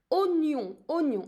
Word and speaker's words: oignon: In here, maybe you will notice that I do have OI, but I'm not pronouncing it wa. It's an exception actually. I'm pronouncing it oignon, as if I only have an O in French.